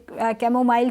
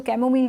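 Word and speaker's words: chamomile: इसी तरह सोने से पहले मैं अक्सर अपनी वीडियोस में भी मैंने कैमोमाइल टी, जिसको कैमोमिल टी भी प्रोनाउंस किया जाता है, वो मैंने रिकमेंड की थी।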